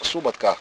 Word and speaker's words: суботка: тут суботі та дуже просто просто суботка і наголос на перший склад Саме так називалося вогнище